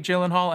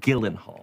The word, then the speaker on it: Gyllenhaal: hi i'm jake gyllenhaal and i'm hosting snl this week with camila cabello gyllenhaal your name is pronounced gildenhall i guarantee you it is not guarantee you guarantee him